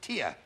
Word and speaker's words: Ter: Ah Ter is pronounced tier.